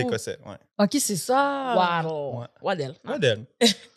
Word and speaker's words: Waddel: Comment tu prononces ton nom? Waddle.